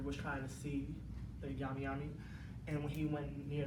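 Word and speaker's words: Nyami Nyami: Pronunciation is right there. Yami Yami.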